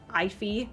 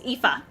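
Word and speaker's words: Aoife: Not a not if ea I think I think I've heard like ify and stuff. Yeah. No, it's epha.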